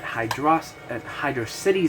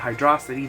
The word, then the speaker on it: Hydro City: I'd always end at Hydro City Zone. Almost called it Hydrocity. The wrong pronunciation. For all you dumbasses out there who like to call it It's Hydro City, you dumbasses.